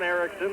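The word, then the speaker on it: Erixon: squeezed along the boards by john erickson one erickson is spelled with an x e-r-i-x-o-n and uh the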